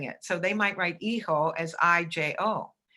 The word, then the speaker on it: hijo: The H is silent in Spanish, like hijo.